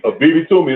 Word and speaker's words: Abibitumi: BB Toomey is spelled ABIBITUMI TV.